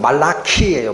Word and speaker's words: 말라키: 여호와께서 말라기로 이스라엘에게 말씀하신 경고라.이 말라기라는 거의 발음이 원래는 말라키예요. 말라키. 사람 이름입니다.